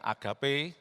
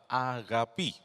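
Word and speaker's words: ἀγάπη: kasih dari agapi, ya, populernya dikatakan agape, tapi cara baca yang benar adalah agapi.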